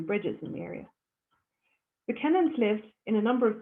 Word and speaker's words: Kennan: The fourth of our 5 bridges that you come across is Kennan Bridge, or Keenan Bridge as I hear it pronounced, but it's spelled Kennan, Kennan, named after a local landowner.